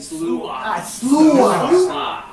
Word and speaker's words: Sluagh: Well, SLAUGH, that's how you say it. Sluagh. SLAUGH.